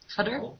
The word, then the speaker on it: Qatar: it is a country Qatar oh and it's pronounced cutter is it cutter I think it's Kar cutter yeah okay so